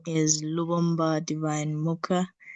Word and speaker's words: Lubomba: So, Lumbani, right? Lumbani? Am I pronouncing Lubomba. it well? Lubomba.